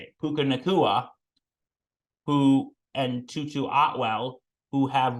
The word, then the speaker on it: Puka Nacua: Puka Nacua, and Tutu Atwell, who have really been, stepping up since Cooper Kupp has been injured for the Rams.